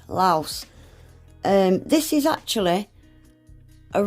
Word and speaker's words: Laos: is called Laos well in the country Lao they pronounce it Lao but in English we pronounce it with the S Laos um this is actually